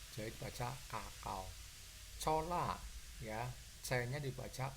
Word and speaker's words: cacao: Contoh cacao, ya, dibaca kakao, C-nya dibaca K karena diikuti huruf AO. Ini ada A, ada O, jadi dibaca kakao.